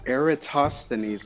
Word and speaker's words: Eratosthenes: to do it knowing the job checks it's eratosthenes like tosser Aerith pasta net no sorry he's